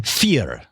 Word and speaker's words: vier: Vier. Vier? I spell that.